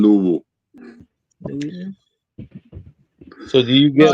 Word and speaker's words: Louisville: It's spelled Louisville, but I live in Louisville.